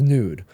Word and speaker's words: Nuud: I know Nude, how do you spell it?